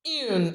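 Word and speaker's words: une: in then we have the feminine Yoon pronounced Yoon and the plural D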